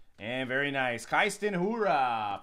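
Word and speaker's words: Hiura: very nice heist in hoorah for the Brewers that's how you say his name I think it is yeah like the Marines belly and Lourdes Gary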